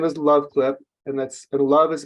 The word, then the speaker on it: LuvClip: So the product name is LuvClip, and love is spelled LUV.